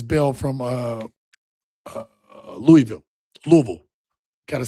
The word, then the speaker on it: Louisville: Louisville. Got to say gota say it right. Louisville.